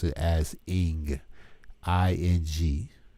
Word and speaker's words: Ankh: You don't pronounce it as Ankh. You pronounce it as Ing, I-N-G. You pronounce the Egyptian Ankh as Ing.